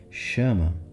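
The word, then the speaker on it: Shama: Chama se escreve S-H-A-M-A.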